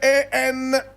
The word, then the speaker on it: Andries: This is the photograph of Andries Tatane. Andries Tatane. Andries is spelled A-N-D-R-I-E-S. Some people also pronounce this Andries. Andries.